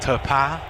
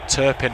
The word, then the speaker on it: Turpin: Referee Clement Turpin. I would have said Turpin if you didn't say it first, John. It's my horrible English pronunciation of the fine French surname, as Modric gets away